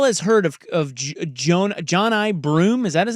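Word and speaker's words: Johni: Johnny I think it's John I John I it looks like Johnny but it's not pronounced Johnny I think he outside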